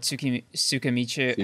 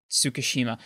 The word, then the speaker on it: Tsukishima: Like, to get the same reaction out of Ichigo that Tsukimichi... How do you say it again? Sorry. Tsukishima.